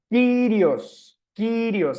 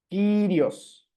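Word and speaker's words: κύριος: Por ejemplo, en la palabra Kyrios, ahí la Y, perdón, aparece sola, no está haciendo diptongo, por lo tanto ahí se lee como Y. Kyrios, Señor, ¿no?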